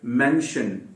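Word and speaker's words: mention: याद रखें मेंशन नहीं है ये, शन अगर आपको बोलना है तो SHUN, शनिंग, SHUN एक अलग ही वर्ड है, वो उसमें उल्टी वी आती है।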